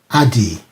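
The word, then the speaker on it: עֲדִי: The Hebrew pronunciation is Adi.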